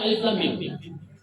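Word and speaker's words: الم: Di Quran surah Al-Baqarah ayat pertama, alam juga tulisannya, tapi bacanya alif lam mim.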